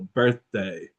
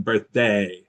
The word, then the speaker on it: birthday: I would say birthday, I tend to put the stress on the first syllable, birthday, um rather than birthday.